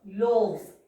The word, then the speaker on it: loaves: So instead of this writing this F turns into V and we have to add again es to the word. Loaves. We have to pronounce it as loaves.